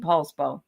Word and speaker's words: Poulsbo: Standing in the light with Annie Bear says that her husband used to work in Paulsbo. So it's spelled Poulsbo.